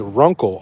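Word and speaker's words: Runcl: It is Runkle, R-U-C-N. No, wait, R-U-N-C-L is how they spell it.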